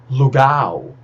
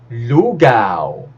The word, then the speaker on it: lugaw: gulay p e essa os brasileiros falam com stress na Segunda sílaba lugal lugal mas dessa vez o stress tem Ser na primeira sílaba L lug gusto lug lugaw masarap yung lugaw pag